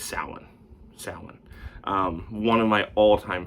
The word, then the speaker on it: Samhain: And then I'm gonna say it right this year because I got yelled at last year by a multitude of people. Samhain. It's Samhain, not Samhain.